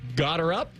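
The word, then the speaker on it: Gotterup: His last name is got her up.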